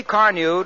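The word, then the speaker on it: Carnu: You see, Car New does not one, but 2 jobs at once.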